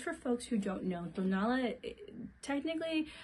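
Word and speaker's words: Tonalá: So, just for folks who don't know, Tonala, technically how you say it, it's actually made in Tonala.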